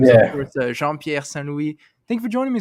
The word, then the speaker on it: Jean-Pierre Saint Louis: But your real name is, of Yeah, course, Jean-Pierre Saint Louis. Thank you for joining me, sir. How are you? I appreciate you saying it correctly with the accent and all that too.